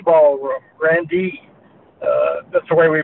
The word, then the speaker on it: Grande: well it it was the Grand D Ballroom Grande uh that's the way we pronounced it um the venue was a an